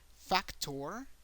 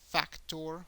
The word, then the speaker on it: factor: Exactly the same thing happens with factor. Factor in Spanish is factor. Factor. So you have to make an emphasis in the last syllable.